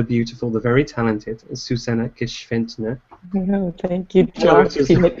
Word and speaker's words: Gschwendtner: But this week, we are joined by the lovely, the beautiful, the very talented Susanne Gschwendtner. Thank you, Josh. You make me blush now. Did I pronounce it correctly that time?